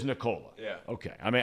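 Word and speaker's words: Nikola: on the hardwood now how do you pronounce this guy's first name Nicola it is Nicola yeah okay I mean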